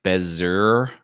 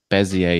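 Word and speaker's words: Bézier: method AC and remember this looks like Bezier Bezier Ezzy a bezzie a is the correct pronunciation of that term as EA teaches you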